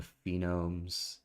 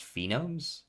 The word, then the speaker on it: phoneme: You had it right the first time. Wait, but it has an E after. Phonemes. I know. That's pronounced phenomes? As far as I'm aware. Phoneme. Phoneme. Okay, so that phenome is like... Phenome's a different word.